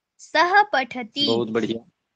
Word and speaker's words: पठति: बालक पढ़ता है बालक पठति टी को दबाते नहीं है पठति ऐसे ऐसे नहीं बोलना है। सामान्य रूप से वैसे ही उच्चारण करना है जैसे पूर्व वर्णों का किया जा रहा है।